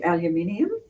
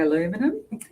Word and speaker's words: aluminium: and it's got silver another word that we say aluminium um you say aluminum it's spelled aluminium so I do apologize